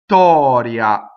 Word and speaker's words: Vittoria: So if we were to find Italian T, it would be just the point at where the T becomes unvoiced, right? So da, ta, exactly where that is, not ta, where it becomes completely unvoiced. Da, ta, Vittoria.